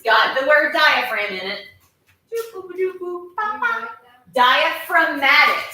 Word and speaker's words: diaphragm: Diaphragm. And it's got that silent G in it. Diaphragm.